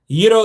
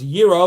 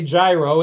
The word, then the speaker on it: gyro: Gyro is pronounced gyro, not gyro. Yeah, you're 100% right, Kevin. You can't go to Greece and say gyro. It's gyro.